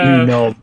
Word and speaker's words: Unom: Unom. I'm down for a better pronunciation. Oh, any it's day. Unom. Yeah, It's like Snom, but it is like Snom.